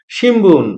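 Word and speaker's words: 新聞: হইতেছে সিমবুন যদিও রোমাজিতে লেখা সিমুন কিন্তু এটার উচ্চারণ হতেছে সিমবুন আমরা স্পেলিং এন্ড প্রনান্সিয়েশনের ক্লাসে পড়ে আসছি বিএমপি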